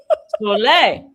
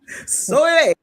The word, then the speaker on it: Soleil: Soleil. Please tell me I'm saying it correctly. You did. You said it. You did. Soleil. Soleil.